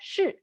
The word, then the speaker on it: 是: It's all 是. Fourth tone, very quick and sharp.